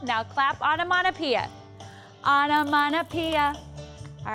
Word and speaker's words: onomatopoeia: So just remember that onomatopoeia has 6 syllables, it has 12 letters, and it's a word that imitates a sound.